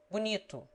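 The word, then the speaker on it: bonito: the unaccented o is generally pronounced like you short as bunito two an accented e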